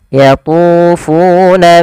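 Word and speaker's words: يطوفون: Hati-hati juga dalam melafalkan fu, jangan diganti dengan yatufuna, jangan diganti dengan p.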